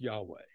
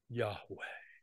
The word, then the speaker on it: Yahweh: I am is written as yhwh which is pronounced Yahweh now here's here's a little just a little exercise for you uh to take into your prayer time Yahweh say that with me Yahweh Yahweh Yahweh Yahweh